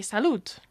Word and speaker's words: salut: But to actually say cheers, we say salut.